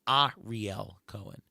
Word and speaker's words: Ariel Cohen: It's pronounced Ariel Cohen. A lot of people go Ariel. It's actually not. It's actually Ariel.